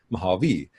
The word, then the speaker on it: Mojave: Mojave is a Native American language, Native American word. So according to the phonological rules of that language, it's actually Mojave. So I'm not going to take offense if somebody mispronounces it, as I'm sure many people will.